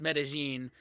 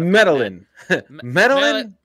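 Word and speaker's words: Medellín: you uh said uh pronounce medine because the way it's spelled I totally went out medalin met what is that meta Quin or something like that yeah man yeah yeah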